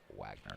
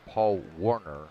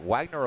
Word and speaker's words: Wagner: speech engine they're used they keep calling Paul Wayner Paul Warner so I have no idea what the hell's going on with that it is definitely waynored there's no R in that name all right Wagner aboard